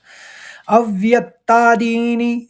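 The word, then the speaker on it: अव्यक्तादीनि: इस तरह से करेंगे अव एक व ले लेंगे फिर व्यक्ता दीनी दी बड़ा होगा नी छोटा होगा स्व अव्यक्तादीनी और भूतानिव व का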